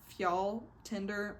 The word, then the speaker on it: Fjalltindr: And then after training, they're like, we have to go to this mountain called, I think it's pronounced Fjall Tinder. I don't know how to say it. It's Fjalltindr. And they have to go to this mountain to sacrifice to the gods.